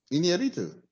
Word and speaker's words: Iñárritu: Iñárritu. Iñárritu?